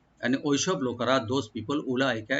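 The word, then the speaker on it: أولئك: উলাইকা, এখানে ওয়া যেটা আছে এটা টানবেন না, এটা সাইলেন্ট থাকবে, শুধু হামজাকে রাইট দিয়ে পড়বেন।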